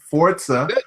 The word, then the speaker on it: Forza: Now, Forza. Did I say it right? Forza.